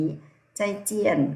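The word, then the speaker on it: 再见: ว่า พบ กัน ใหม่ พยัญชนะ ตัว Z ออก เสียง จอ จาน นะ คะ คือ ไอ ใจ เสียง 4 เนอะ ใจ ใจ ใจ ใจ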